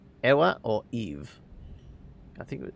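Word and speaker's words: Ewa: Was your name Eva or Eve? I think it was. Did you say your name was Eva?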